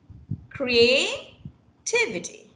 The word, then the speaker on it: creativity: there you have it creativity creativity creativity okay so you have two you have primary and secondary stress yeah so the t